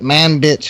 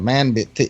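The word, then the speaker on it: Manbij: I think the other one's a funny name, the Manbitch, M-A-N-B-I-J. Manbitch. Yeah. But they pronounce it sounds like man bitch.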